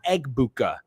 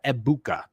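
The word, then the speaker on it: Egbuka: So it's not Eggbuka. The G is silent uh per a Bucks beat writer that I follow. Uh so Amecha Ibuka.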